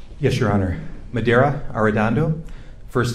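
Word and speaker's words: Medaria Arradondo: spelling each of your names yes your honor madeira are dondo first name is spelled m-e-d a-r-i-a last name is a r-r-a-d-o-n-d-o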